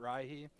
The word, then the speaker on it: Rihi: I always pronounced it Rihi, which definitely pisses some people off, which kind of makes me enjoy it more. I know it's like probably not how it should be pronounced, but uh, it's my